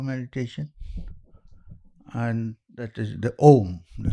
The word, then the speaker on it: Om: Now the usual interpretation of Om is that it's divided into 3 syllables of A, U, and M.